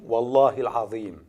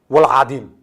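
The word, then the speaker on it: والله العظيم: Prenons l'expression « Wallahi al-Azim ». C'est un serment qui veut dire « par Allah le très grand ». Nos faussaires prononcent « Wal-Adim ».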